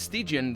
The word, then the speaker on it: Stygian: And I don't know if it's Stygian that it's pronounced, or Stygian, because this is from Stig. Actually, it's Stygian, the name of the studio itself.